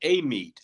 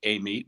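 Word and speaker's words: Amite: do we pronounce it apparently they call it a meet which you know it's a-m-i-t-e which i would never think amy but louisiana is weird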